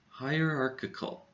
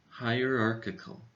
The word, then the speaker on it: hierarchical: does this word have this word has five syllables high or arc it call hierarchical the first two syllables sound like the word higher as in her office is higher up in the building than mine this dress for this word goes in the middle syllable arc so arc is a little bit louder than the rest of the syllables hierarchical hierarchical now let's